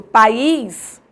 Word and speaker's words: país: e da palavra pais quando eu divido país o is ficam em sílabas separadas certo então eu preciso acentuar para dizer que a pronúncia é país quando eu pronuncio pais